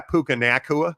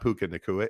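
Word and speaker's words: Puka Nacua: to forget about yeah puka nakua like come on dude that's how you say his name but it's not pukaa it's way more funner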